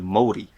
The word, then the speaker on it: Māori: I've noticed you say I feel like in English we say Maori, but you say Maori.